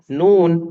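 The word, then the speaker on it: نون: yang baru baca koran dia bacanya nah aja tuh karena itu Percayalah telah kita baca nama hurufnya bukan kita banyak hurufnya parfum terbacanya Nun namanya Nun huruf nun bukan huruf nah lebih yang kedua adalah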